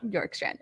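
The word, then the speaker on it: Bjorkstrand: f oliver york strand york strand okay so the b is silent okay from the columbus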